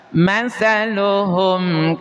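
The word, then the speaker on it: مثلهم: Jadi mengucapkan izhar syafawi itu harus jelas. matsaluhum kamatsalilladuqodaro. Jadi enggak boleh matsaluhum kamalil. Kalau ada penekanan dan dengung seperti itu dalam pengucapan izhar syafawi, maka itu salah.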